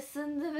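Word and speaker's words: 순두부: あ、それその純豆腐でスンドゥブって読むの恥ずかしい。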